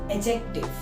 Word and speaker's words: adjective: यहाँ पे डी की साउंड नहीं आती है। It is not adjective, it is adjective.